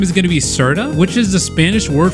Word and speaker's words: Serta: made it an S here's the true pronunciation with a r r i can't roll my arms also I just kind